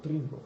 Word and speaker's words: Trinco: Oui, Trinco, c'est parfait. Trinco, voilà, il faut prononcer avec un petit accent italien.